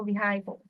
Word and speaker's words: vehicles: Vehicle has the S on the end, so you have to say the S.